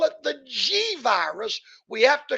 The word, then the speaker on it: Xi: They were supposed to name this virus the next letter of the Greek alphabet, which would have been XI, pronounced G.